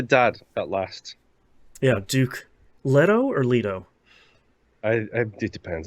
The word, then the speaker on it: Leto: Leto I it depends I call him Leto okay we haven't we haven't watched the movie yet I haven't watched the movie yet so not I'm I'm not up on the movie's pronunciation um yes I think the movie calls him letto I think the audio book calls him Leto which is just like okay